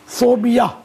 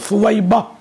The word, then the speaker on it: ثویبہ: یہ ثویبہ یہ گھروں میں نام رکھے جاتے لیکن تلفظ عام طور پہ غلط اس کا پکارا جاتا ہے. ثوبیہ پکارتے ہیں، ثوبیہ نہیں ہے. اصل تلفظ فویبہ، یہ پیارے آقا صلی